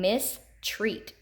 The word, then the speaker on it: mistreat: We have EA pattern, meaning, and mistreat. Meaning, you hear that long E in the first syllable. Mistreat, it's in the second.